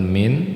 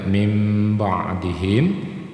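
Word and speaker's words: مِنْ بَعْدِهِمْ: Jadi dibaca mim ba'dihim. Jangan min tapi bacanya mim ba'dihim.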